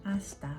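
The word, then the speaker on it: hasta: May H yung asta pero hindi ito pino-pronounce tulad ng H sa ola.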